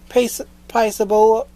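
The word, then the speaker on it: Paisible: Music by Dallin Purcell, Paisable, that's how you pronounce it.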